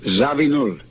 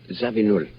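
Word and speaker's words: Zawinul: And I can never pronounce Joe's surname. Zabin. Zabin.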